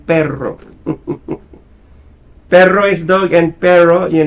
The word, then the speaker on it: perro: Yeah, there is pero and then perro.